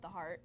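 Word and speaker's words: The HairArt: It's called The Heart. I started it last year. Okay. And it's spelled THEHAI''ART. I took hair and art and I put it together. Wow. And I pronounced it Heart because my slogan for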